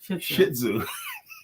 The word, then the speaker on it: Shih Tzu: she's a little suit is the proper pronunciation Shih Tzu you little too oh